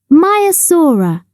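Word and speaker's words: Maiasaura: protective over their young how do you say it mayasa say my a s in the sea many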